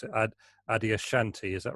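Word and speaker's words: Adyashanti: know if this is the right way to pronounce it Adia Shanti is that right Adia Shanti yeah yeah an American spiritual teacher can you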